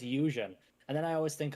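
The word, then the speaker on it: Yuuzhan: I read the whole series as Yuzen. I've always called it Yuzan. I've always called it Yuzan. But it's um but it's Eusen.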